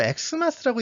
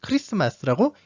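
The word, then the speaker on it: Xmas: 자, 이거 엑스마스라고 읽지 않습니다. 그 엑스마스 하니까 갑자기 이게 생각나지 않나요? 엑스맨. 네, 엑스맨하고 엑스마스하고는 전혀 상관이 없고요. 실제로도 엑스마스라고 읽지도 않습니다. 엑스마스가 아니라 크리스마스라고 읽습니다.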